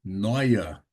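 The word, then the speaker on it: Neuer: Então, e com o som de Oi. Quem curte futebol, nós temos lá o goleiro da seleção alemã, Noia.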